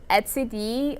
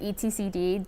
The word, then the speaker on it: etcd: object next we have the Etsy D or etcd depends on how you pronounce it and that's basically distributed